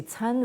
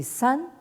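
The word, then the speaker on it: 參: parce que ce caractère-là, vous pouvez le prononcer tsan, ou dans ce cas-là, ça veut dire donc participer. Hein, donc, on pourrait comprendre que c'est la capacité justement de ces trois puissances cosmiques de prendre part à un monde intégré, ou alors, si vous le prononcez san, hein, ça veut dire donc trois.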